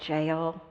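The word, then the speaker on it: Geel: There's a town in Belgium called Jail. It's spelled G-E-E-L. Sounds like jail, J-A-I-L, but it's G-E-E-L.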